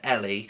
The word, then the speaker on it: Ellie: So, yeah, it's spelled E-double-L-E, but it's pronounced Ellie.